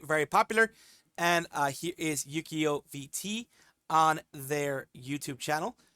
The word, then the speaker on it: Yuukio: My name is Yuukio, pronounced Yu-Gi-Oh, but with a K.